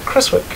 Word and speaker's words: Creswick: I didn't ask you to do the proper pronunciation of your last name, so if I butcher it, it's not my fault. Uh Chriswick.